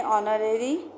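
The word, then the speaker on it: honorary: Hairs से पहले ऑनरेरी N hair, क्योंकि इसमें एच साइलेंट होता है।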